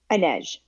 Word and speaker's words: Inej: How do you say her name? Inej. It's with a Inez J at the with a end.